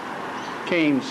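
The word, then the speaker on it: Cairns: Canes as Jenny says, but anyway, cuz they don't pronounce their Rs.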